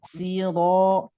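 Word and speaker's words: الصِّرَا: Nah, ini si kebanyakan huruf shad ini ketika harokatnya kasroh itu suka tertukar dengan huruf sin. Ihdinas siro. Nah, ini harus bisa membedakan ya. Walaupun huruf shad dan huruf sin itu satu tempat, satu makhraj, tapi beda sifatnya. Kalau shad tebal, kalau sin tipis.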